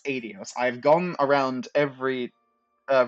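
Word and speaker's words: Aidios: the goddess known as adios yes it is pronounced adios I've gone around every uh vers of pronunciation and both the Japanese and the English pronounced adios when initially playing the first set of games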